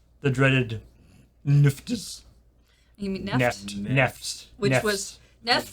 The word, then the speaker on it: NFT: Neft rhymes with theft.